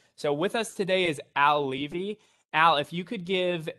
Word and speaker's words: Al Levi: yes also thank you for getting my name pronounced right al levy it is a weird